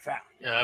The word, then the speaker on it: valet: And so if folks look at that and think that's not the pronunciation, it is the pronunciation, valet.